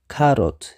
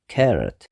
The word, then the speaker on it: carrot: እዩ ዘሎ tomato ሻድሻይ carrot ብዙሓት ሰባት ካሮት ይብሉ እዮም ከምቲ ልክዕ ኣብ ትግርኛ ንብሎ ኣብ እንግሊሽ እውን ካሮት ይብሉ እዮም ግን እቲ ቁኑዕ carrot ክልተ syllable ኣለዎ carrot እቲ stress ኣብቲ ቀዳማይ syllable ይኸውን ማለት እዩ carrot ሻውዓይ onion ክልተ syllable